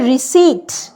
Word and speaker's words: receipt: তারপর হচ্ছে রিসিট, RECEIPT, পিটা কিন্তু প্রোনাউন্স হচ্ছে না, CEI এর পর টিতে চলে যাচ্ছি, পির কোনো প্রোনাউন্সিয়েশন নেই।